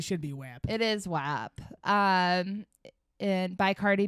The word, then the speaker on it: WAP: yeah we're not talking about italians it's not watts yeah it's web wh it's swap but um use your letters when you sound it out i think phonetically it should be whip it is whap um and by cardi b and megan the